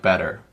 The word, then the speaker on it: butter: yeah so um the the main thing in all of these is that the t's sound like these better bitter butter they